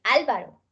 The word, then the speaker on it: Álvaro: Método, monosílabo, miércoles, filántropo, química, Álvaro, Angélica. Y aquí empezamos a ver, como desde atrás, que los nombres sí tienen ortografía. ¿Listo? Porque no es lo mismo Álvaro que Álvaro. Pues es Álvaro.